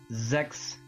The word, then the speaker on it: Xexyz: had to be so according to the pronunciation on Wikipedia it is pronounced Zechs ZZZ ZZZ ZZZ okay